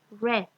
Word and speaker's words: read: Acá en este verbo, en su forma de presente, en presente se dice read, pero en pasado se lee read.